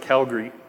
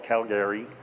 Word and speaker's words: Calgary: We pronounce it Calgary. And most people call it Calgary, so.